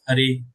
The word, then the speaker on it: Hare: When we in the vocative, in this mantra, this Hara is pronounced as Hare.